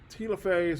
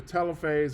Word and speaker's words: telophase: then you've got anaphase telophase or telophase i've heard it pronounced both ways and then you've got